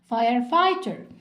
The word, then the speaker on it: firefighter: واوعوا تنسوا ان الجي والاتش سايلنت مش بنطقها. firefighter.